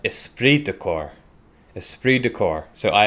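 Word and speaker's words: esprit de corps: pointed out to me it's not pronounced espirit decor it's pronounced esprit decor esprit de cor so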